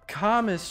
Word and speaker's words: commis: S is silent. It kind of reminds me of like commiserate, but like commis chef?